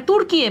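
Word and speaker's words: Türkiye: তুরস্কের আরেকটা নাম আমরা এখন বর্তমানে উচ্চারণটা করে তুর্কিয়ে বলে।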